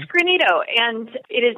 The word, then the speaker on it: Greenito: kind of what you said is that it's granito and it is not a a word that